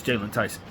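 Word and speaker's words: Jaylon Tyson: Is it Jalen Tyson? I think I got his name wrong real quick. Yeah, it is Jalen Tyson.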